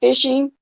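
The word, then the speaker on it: phishing: okay all righty then it's pronounced like fishing okay so the p is okay it's the f sound okay it'll be legit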